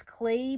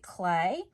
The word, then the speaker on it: Klee: at his last name it's spelled k-l-e-e so you might think it's CLE but we pronounce it clay and then teachers I